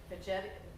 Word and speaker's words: Veggetti: It's a veggetti. I think it's supposed to rhyme with spaghetti and starts with a V, so I'm not going to pronounce it.